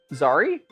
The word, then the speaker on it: Zeri: You're saying it wrong on Zeri. No, said it to wonky before. It's like Zari. Zari.